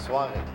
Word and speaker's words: suave: How do you say it? Suave. I'm sorry. I pronounced too many letters, obviously. You put a W in there.